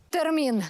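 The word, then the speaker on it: Termin: сьогодні у моєму словникові термін саме з наголосом на і приблизний переклад зустріч Утім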